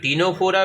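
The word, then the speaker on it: Ctenophora: दूसरा हो जाएगा टीनोफोरा, सी इसमें साइलेंट होता है, टीनोफोरा।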